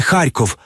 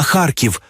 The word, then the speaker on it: Харків: назви згідно з цим не Київ а Київ не Харков а Харків не Днепр а Дніпро не Донбас а Донбас і нарешті Одеса може